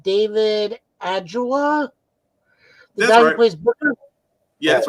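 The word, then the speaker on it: Ajala: to speak to I don't know how to pronounce his last name David agula Booker yeah that's right yeah agela is right uh I've gotten to talk to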